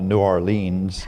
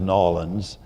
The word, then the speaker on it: New Orleans: in a place that I used to call New Orleans, and then I learned to pronounce as Nolans.